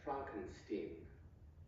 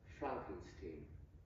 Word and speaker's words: Frankenstein: one question Dr Frankenstein that's fren Stein I beg your pardon my name is pronounced Frankenstein but aren't you the